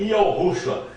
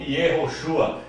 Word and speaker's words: Yahushua: A palavra no hebraico arcaico era Iá. O nome do Messias começava com a palavra Iá e não Ie. Portanto, o nome do Messias era Yahushua e não Yehoshua.